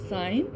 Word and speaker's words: sign: The word of this is sign and the silent letter in this word is G. So come on next page.